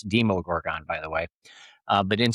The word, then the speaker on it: Demogorgon: over, the Demogorgon, you could say then they mispronounced that. It's Demogorgon, by the way.